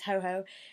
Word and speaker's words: Hoo-hoo: I think it might be said as ho-ho, I don't know, it could be hoo-hoo or ho-ho. It's spelled H-O-O-H-O-O. Ho-ho, sometimes known in English as the ho-ho bird, yeah it's ho-ho, is the Japanese pronunciation